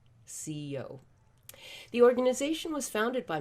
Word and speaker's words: Si-Yo: as simple as that and you pronounce it just as you would the two alphabet letters c and o ceo the organization was founded